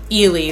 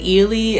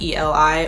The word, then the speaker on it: Eli: main character Oscar and Ely. They pronounce it Ely in the movie. It looks like Ellie though, like E-L-I or Eli, I guess, but they pronounce it Ely.